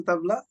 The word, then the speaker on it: tabla: And I see that you're also bringing an instrument, the tabla. Is that how you pronounce it?